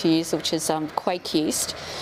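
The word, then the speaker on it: kveik: years which is um quake east i'm going to pronounce it quake yeah okay so yeah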